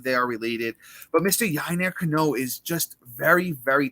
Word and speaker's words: Yennier: about someone I'm excited to talk about it's yiner canoe I will spell that for you guys if you're on the